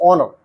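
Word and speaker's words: honour: इन शब्दों को बोलिए तथा हिज्जों और उच्चारण को याद कीजिए। जी नेट लड़ाकू विमान, पी साइकोलॉजी मनोविज्ञान, एच प्लस ऑनर सम्मान, ऑनर सम्मान, राइट लिखना, एच ओवर घंटा, के नॉलेज ज्ञान, पी न्यूमोनिया फेफड़ों की सूजन।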